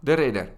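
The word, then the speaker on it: de Ridder: from the Netherlands rir the Ridder that's how you say his name in Dutch R the Ridder is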